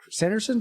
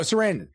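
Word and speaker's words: Sarandon: Chris Sanderson gave uh Sanderson I get that right know it's yes no sandon Chris sandon yeah you're asking the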